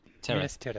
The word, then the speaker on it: Minas Tirith: Minas Tirith.